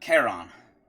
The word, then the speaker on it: Charon: Charon.